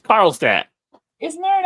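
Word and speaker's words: Carlstadt: went in so now how would they pronounce that town name in New Jersey carlat I'm from New Jersey how so what you what you asking me there it's carlat isn't there an accent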